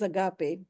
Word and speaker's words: agape: And the last one is agape.